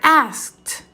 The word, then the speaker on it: asked: You see the word asked. At the end of that word, you hear the t sound, even though it's spelled as ed.